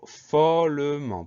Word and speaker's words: follement: Donc on sait que ça s'écrit M-E-N-T, donc le son en E-N, et la dernière lettre muette, le T qu'on n'entend pas.